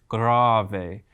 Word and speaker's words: grave: moment the first one it looks like the word grave but it doesn't mean digging a grave it's actually pronounced grave a and that means very